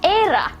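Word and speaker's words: Éire: Um, in Ireland it's era, which is very interesting.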